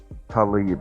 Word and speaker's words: Tlaib: Tlaib. Okay, so is that how you pronounce it?